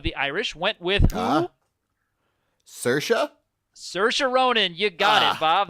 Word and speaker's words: Saoirse: Irish went with huh Saoirse saoirse ronan you got Bob there you go rhymes with inertia just remember just rolls